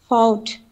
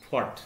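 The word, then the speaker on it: fought: ফাউট। ফট, তাই তো? ফট উচ্চারণ হবে, জি।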